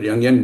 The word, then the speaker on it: Jungian: While the Yangian or Jungian, I think he pronounced it Yangian, but for our purpose, we call him Jungian. It's easier.